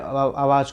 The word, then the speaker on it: hour: इसी से HOUR होते हुए भी हम इसको क्या पढ़ते हैं दोस्तों, सबको पता है HOUR होते हुए भी हम H साइलेंट कर देते, आव पढ़ते हैं।